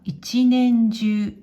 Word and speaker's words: 一年中: はい、これは一年中、一年中、一年中、一年中。